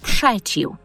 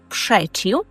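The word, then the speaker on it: przeciw: Натомість в польській мові ми проти перекладаємо як пшечів. Пшечів. Тут пам'ятаємо, що рзz вимовляється як ш пшечів.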